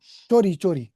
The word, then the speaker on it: chori: Chori, Chori, oh, acha. theft, There's no stealing. CH. No, but in English, this is spelled, C is spelled as chaw. Oh, chori.